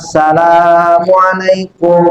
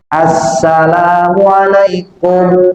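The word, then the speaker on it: السلام عليكم: Ada orang baca salam, salamualaikum warahmatullah. Ini saraf fikih enggak sah. Kalimatus salam itu ada alnya. Al ketemu sin itu asamsiyah. Jadi bacanya assalamualaikum.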